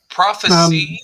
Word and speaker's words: prophecy: So prophecy. Prophecy is a noun. Ah, got Mhm. it. And this Prophesy is the verb. Prophecy is with a C, and prophesy is with the S.